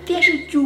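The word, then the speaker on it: 电视剧: ju (correcting pronunciation) Ju! It's like a story right? Tv show Oh! Dian shi ju (tv show) Play-- oh I said-- I was so close!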